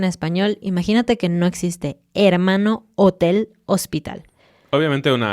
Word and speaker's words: hermano: Por el contrario, la letra H en español es completamente muda. No hace ni un chiquitito sonido.